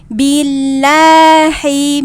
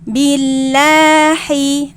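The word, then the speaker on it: بالله: Sedangkan kita biasanya suka meringankan menjadi bacaannya seperti ini. Billahi mi billahi. Nah, ini sudah beda huruf ya, Teman-teman ya. Yang tadi barusan dibaca adalah dia berubah jadi huruf H. Nah, huruf H itu di tengah tenggorokan. Sedangkan ini adalah huruf H. ada di pangkal tenggorokan.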